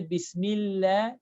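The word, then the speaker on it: بسم الله: This lam should not be made heavy. It's not a heavy letter. When you say Bismillah, Bismillah should be pronounced lightly.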